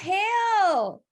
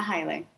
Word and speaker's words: Haile: said your last name it's a common mispronounciation it's highly actually highly hilah okay perfect so